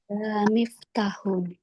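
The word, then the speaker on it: مفتاحٌ: Ah perhatikan cara bacanya. Ah hadza mifun ya harus dibaca semua umahat jangan had miftah ya dibaca nih domat ini dibaca hadza miftahun karena kita sedang belajar tidak boleh disukunkan fahimtunna umahad Fahimna fahimna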